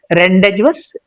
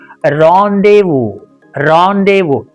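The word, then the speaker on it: rendezvous: How should this word be pronounced according to our basic knowledge? Okay. Reage. Is it that rendevuous?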